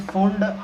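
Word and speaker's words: Pfund: Movement कहीं से start हो 5th पे रुक जाए, 5th पे, तो उसे फुंड बोलते हैं। फुंड, पी यहाँ पे साइलेंट है।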